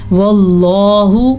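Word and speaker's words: والله: واللہ، اللہ کا نام پر پڑھنا ہے.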